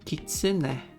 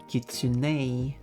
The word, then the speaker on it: kitsune: But English speaker, like the proper English pronunciation of that word would be kitsune, but that's not the original pronunciation though.